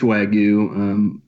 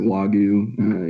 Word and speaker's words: Wagyu: Yeah, it's Wagyu. Some people pronounce it Wagyu. Either one is fine.